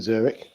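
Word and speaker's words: Züri: lots of bankers in Zurich and apparently they're very good with their hands while they're banking. Um, and it's pronounced Zuri in the local dialect and um, one nil France.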